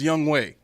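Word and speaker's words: Younghoe: I need you to put young and ho together and it's pronounced young way and he's 14th in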